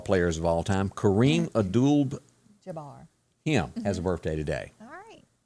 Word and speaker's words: Abdul-Jabbar: of all time kareem abdul jabbar him has a birthday today all right kareem abdul how how do you say that middle name kareem abdul-jabbar abdul like paula abdul okay yep some of